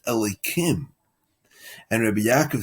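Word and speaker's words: אלוהים: And now this is strange because the word itself is written Yud Kei Vav Kei, but it's pronounced Elokim.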